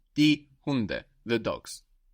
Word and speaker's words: Hunde: The dogs is die Hunde. Die Hunde. And we notice also that the D is soft again, because it's not on the end of the syllable like in der Hund. Die Hunde.